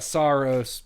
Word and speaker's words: Saros: And then um we've got Soros. SOS. How do you say it? Is it? Uh I think everybody's been saying Saros, but I'm pretty sure the developers are calling it Soros.